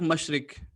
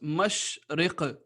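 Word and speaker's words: مشرق: Par exemple, le premier mot, certaines personnes vont dire mashrik, mashrik, mais c'est pas correct. En arabe, et surtout dans le Saint-Coran, il faut que l'on prononce mashriq, mashriq, mashriq.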